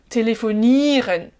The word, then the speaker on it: telefonieren: Mais kannst du telefonieren? Voilà. Attention, c'est pas le ren qui est accentué. J'ai oublié ma prononciation française. Kannst du telefonieren?